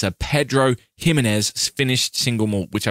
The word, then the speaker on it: Ximénez: It's spelled X I M E-N-E-S. It's Jimenez. It's definitely Jimenez. It's just what the X does.